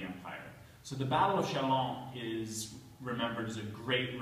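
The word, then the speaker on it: Châlons: I'm from we'd call this the battle of chavins uh Mr Schaefer how would a true Francophile pronounce this B shalom shalom shalom very important so this is the Battle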